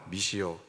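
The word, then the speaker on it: missio: 보이십니까 미오라는 글자가 보이시나요 미시오 제가 왜이 이미지를 준비했냐 이제 이미지를 내려 주셔도 되겠습니다이 를 조금 세게 발음하면 미시오 이렇게 발음이 됩니다이 미오라는이 발음이 우리이 단어 이렇게 발음하면 어떤 말이 되냐면 이제 라틴어가 돼요 라틴어가 미시는 글인데요 미시는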